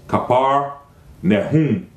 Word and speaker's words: Capernaum: now he came to Capernaum the correct pronunciation of that is khabar nahin there was a prophet